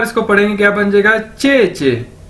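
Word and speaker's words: 姐姐: बार पढ़ें इसको, तो ये क्या बन जाएगा, चे चे। ठीक है, जे आई ई हमने देखा पीछे चे, तो अगर दो बार इसको पढ़ेंगे क्या बन जाएगा, चे चे।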